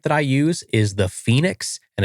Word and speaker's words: Fenix: So, the headlamp that I use is the Fenix and it's spelled f e n i x and it's $99.